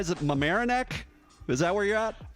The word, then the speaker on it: Mamaroneck: scott walker coming to us from am i pronouncing it right is it mamaroneck is that where you're at uh yeah mamaroneck although i am actually back in the hotel